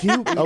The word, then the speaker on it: Jugo: it's Hugo. Okay, so it's Hugo Boss, but it's spelled with a J.